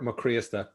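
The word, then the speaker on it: Mac Críosta: So it's Mac Criosta. And it's the accent on the I that kills everybody.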